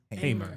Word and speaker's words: Hamer: Is it Hamer or Hammer? I think it's Hamer. It's Hamer? Okay. It's pronounced Hamer. Yeah, that's Only right. one M. Thank you. I appreciate that. Hamer. No relation to MC Hammer.